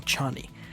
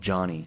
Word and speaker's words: Chani: That's what it's spelled like I didn't get that until the end of the movie. 90% of the way I thought she was called Johnny.